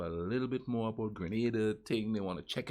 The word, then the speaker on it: Grenada: geography now grenada that's youtube and simsima it's pronounced grenada yeah not granada grenada barbie well we've reached our seventh caribbean country